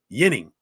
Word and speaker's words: Ginning: Adam Ginning, the defenseman for the Flyers, is actually, by the Swedish pronunciation, Yinning. I mean, Kjell Samuelson's told me that. Other Swedish players have told me that. There's no doubt that his name is Yinning in Swedish.